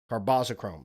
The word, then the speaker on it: carbazochrome: Carboschrome.